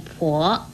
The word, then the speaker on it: 番: 番也念婆，国语注音是坡我婆，二声婆。